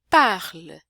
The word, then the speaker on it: parle: essas daqui, eu sublinhei a sílaba forte, né? É par, não é o lê.